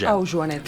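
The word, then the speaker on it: Auyanet: ¿Cómo pronuncias la Y esa? Como uruguaya. Aujanet. Así que es Aujanet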